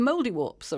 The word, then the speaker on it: Mouldiwarp: And what I can do with children is actually get them to pronounce the P at the end of the name.